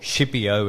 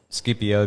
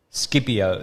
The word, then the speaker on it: Scipio: dream of Scipio or Scipio as English speak English people um pronounce it but I call it Scipio because I'm Italian and that's how his name is it's Scipio the dream of Scipio